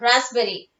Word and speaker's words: raspberry: say okay then raspberry here the p is silent raspberry it's a kind of